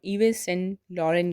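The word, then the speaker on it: Yves Saint Laurent: YVESSAINT LAURENT इसे हम इवेस सेंट लॉरेंट नहीं कहते हैं, इसे हम इवे सेंट लॉरेन कहते हैं।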